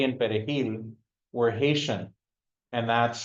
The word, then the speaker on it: perejil: Spanish very well, then they couldn't pronounce the J in perejil, in the Spanish word for parsley, perejil. And so, yeah, they would assume that those who couldn't pronounce the J in perejil were Haitian.